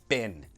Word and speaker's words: been: to pronounce it like and bean often we pronounce like bin and you remember where